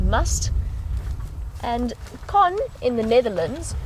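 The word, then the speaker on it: musth: cycle and that's spelled m th H and pronounced must and con in the Netherlands you were wondering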